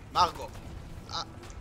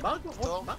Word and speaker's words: Margot: I said Margot Robbie. And she's like, what? Margot. And I said, the T is silent.